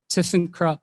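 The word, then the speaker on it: ThyssenKrupp: it because it's german and very difficult to pronounce it's called system crop like listen up that i went into my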